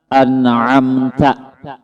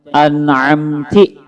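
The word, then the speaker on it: أَنْعَمْتَ: Misalnya an'amta, barisnya taala umpama dibacanya an'amti, taubah maknanya ini bahasa Arab, ini antik bahasa Arab pian. Barisnya aja taubah maknanya dah. An'amta nang bujurnya.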